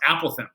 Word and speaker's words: apothem: this ate this this apothem thing and mr tran it would be like it's actually pronounced apple them all right cool okay